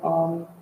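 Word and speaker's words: Aum: practice with a chant of alm which has three syllables the ah the o and the um at the end with the lips closed feeling the reverberation of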